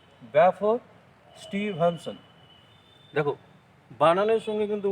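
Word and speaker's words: Balfour: এবার দেখো ব্যালফোর, বানানটা দেখো ব্যালফোর আছে, BAL, এল এর উচ্চারণ কিন্তু হবে না, ব্যাফোর।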